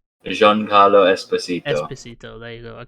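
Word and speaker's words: Giancarlo Esposito: waiting is there a child behind him is Jean-Claude despacito gonna be in this season I can't say his name Jean Carlo Esposito Esposito there you go I can't say his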